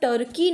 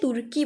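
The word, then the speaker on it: Türkiye: Next पे अगर हम आते हैं डैट इज योर टर्की। नहीं बोलेंगे, तुर्की बोलेंगे। ठीक है, याद रखिएगा इसका नेम, इसका प्रोनाउंसिएशन चेंज कर दिया गया है, ये तुर्की बन गया है।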